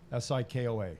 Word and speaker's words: Sikoa: Sikoa. Am I pronouncing that right?